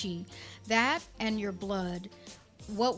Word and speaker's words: Qi: energy of the body we call Chi in Chinese it's spelled Qi what is pronounced Chi that and your blood